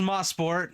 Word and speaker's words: Mosport: tell us the pr the correct way to pronounce that uh it was mosport now it's Canadian Tire motorport Park ah gotcha